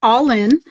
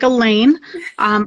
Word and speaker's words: Alainn: It's pronounced All-In, although it looks like Alainn. All-In is an Irish word. It means beautiful.